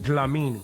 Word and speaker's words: Dlamini: Your name, I'm gonna try to pronounce it. Amala. Amala, perfect. Ratna. Okay, yep. That's pretty good. Yeah. Zandile. Yes. Dlamini.